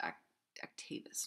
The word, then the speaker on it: Actavis: So Preactivis, apparently it's pronounced Actavis, not Activis.